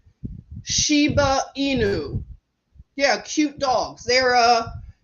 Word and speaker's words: Shiba Inu: them see what you think let's see a Shibu Inu did I say it right Shiba Inu yeah cute dogs they're uh it's a sheep